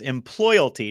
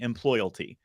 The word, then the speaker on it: Employalty: Yes, employalty, just like loyalty, but EMP at the beginning. Employalty.